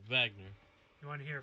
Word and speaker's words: Wagner: German, the W is pronounced like a V, so he should have said Wagner.